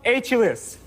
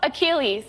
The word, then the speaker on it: Achilles: Hulus. Hulus. Hulus. And they they still didn't give it to him because he mispronounced it. You can't accept that. Okay, shovel. I'll solve. Yeah. Mythological hero Achilles.